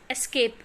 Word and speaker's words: ESC: It is pronounced as escape key.